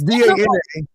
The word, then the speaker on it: Dana: First of all, it's not DEE because my name is spelled DANA. It's DANA.